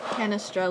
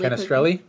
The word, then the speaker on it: Canestrelli: How do you pronounce that? Canestrelli. Canestrelli.